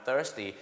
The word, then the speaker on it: thirsty: thirsty นะ ครับ I'm thirsty แล้ว ต้อง ออก เสียง ให้ ดี ๆ นะ ครับ thirst หิว น้ำ 30 30 thirteen 13 ครับ ไน ลอง ซ้อม นะ ฮะ thy 30 กับ thir นั่น เอง ครับ ลอง ซ้อม กัน